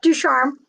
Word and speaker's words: Ducharme: I'm joined by the brilliant Ducharme. I think I've said it right. Close enough. Ducharme.